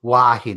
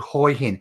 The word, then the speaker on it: Hua Hin: Look, if you're visiting Thailand, just say Hua Hin, all right? Because that's the way the Falang say it, or the foreigners. If you're living in Thailand, it's called Hoi Hin.